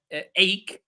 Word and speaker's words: ache: Um, Stomach also is a word where the ch is pronounced as k, stomach. Ache, which means pain.